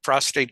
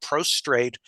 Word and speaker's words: prostate: surgery an deprivation therapy prostate cancer is not pronounced with an extra R you know that kind of stuff it's where if a man comes in and pronounces it prostrate you don't get on